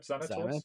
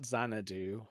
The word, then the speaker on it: Xanatos: Did I say it right? Xanatos. Xanatos, yeah. Yes. Not Xanadu. Xanadu.